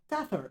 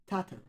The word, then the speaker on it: Tather: Generally speaking, I'm Tatherwood, short to Tath or Tather, which is Tather, not Tatter, but still.